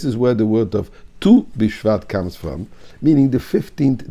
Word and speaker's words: Tu BiShvat: use nine and six so that is tess and which comes to when we pronounce it we say tu this is where the word of tu bishvat comes from meaning the